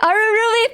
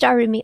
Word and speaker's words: Arumi: Arurubi, thank you so much. It is just Arumi. Okay, I've been worried that I've been saying it wrong.